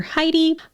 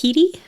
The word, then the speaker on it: Heide: And I just want to say that some people call her Heidi, but her niece used Heide. So I'm assuming Heide is either her nickname or the correct pronunciation of her name.